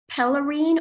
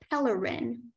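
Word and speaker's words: pelerine: don't see that here are there any alternate pronunciations there's pellerene or Pellerin coloring coloring p e l e r I n e coloring that is correct thank you speller 116.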